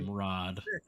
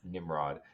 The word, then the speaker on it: Nimrod: Is that how I pronounce it correctly? Nimrod. Nimrod.